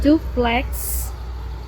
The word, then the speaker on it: duplex: When it comes at the end of the words, as in duplex, duplex, it sounds like x, x.